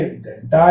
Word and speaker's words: घंटा: तो ये देखिए ट के पहले बिंदी आई तो ये घंटा यानी अणा का उच्चारण करेगी।